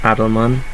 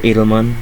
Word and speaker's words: Adleman: inventors Rivest Shamir and Adleman or Adelman over you pronounce it a method for